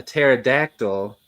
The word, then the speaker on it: pterodactyl: For anyone that's not sure, pterodactyl is spelled with a P at the beginning, but it's silent.